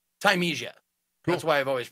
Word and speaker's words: Thymesia: I didn't even think there was another way to pronounce it. Like, it looked like, you know, parsley, sage, rosemary, and thyme. Mm. And I think it's Thymesia, honestly, because there are spices in the game that you pick up for your health.